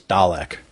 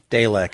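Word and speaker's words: Dalak: When I first thought saw it I thought it was Dalek. Sure. Which I thought was kind of interesting but it was D A L A K the way it was spelled. Um Dalech is how they pronounce it.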